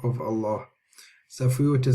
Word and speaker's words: Allah: fatwa or a bomber then the Lamb of Allah will be pronounced heavy so let's look at these examples me know why he mean Allah me now are you can hear the lamb is pronounced heavy it's not like laughs that's different I mean Allah and Allah Allah so you can see that the Lamb of Allah is heavy in these examples were very very easy